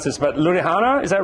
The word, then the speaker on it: Ludhiana: He's originally from a small Punjabi village called Gurala in, I can't pronounce this, but Ludhiana, is that right?